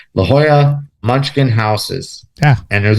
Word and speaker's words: Jolla: Yes, LL together is a Y sound. La Jolla, and of course J in Spanish is a H sound. La Jolla Munchkin houses.